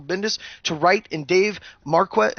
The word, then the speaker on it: Marquez: We got Civil War II, Brian Michael Bendis to write, and Dave Marquette, how do you say his last name? Marquez, doing art for the upcoming story arc due out in April 6, 2016.